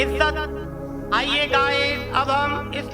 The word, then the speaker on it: عزّت: यहाँ जे के ऊपर तस्दीद की एराब है।